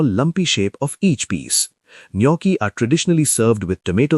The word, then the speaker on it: gnocchi: The name is pronounced with a silent G, and the word comes